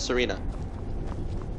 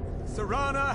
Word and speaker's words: Serana: true requires keys Serrata but that's Serena my Lord everyone Serana has returned I'm sorry that I've been mispronouncing your name for everyone believe it